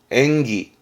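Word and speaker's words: 演技: 발음은 토끄기. 토끄기. 특기의 토끄기. 이거 말고도 많았습니다. 기술의 기주츠, 기주츠. 그리고 연기하는 건 엔기, 엔기.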